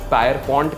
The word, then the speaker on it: Pierpont: मैंने शायद इसको गलत प्रोनाउंस किया होगा, इसको कुछ पायर पॉइंट कहते हैं, कोई पियर पॉइंट कहते हैं।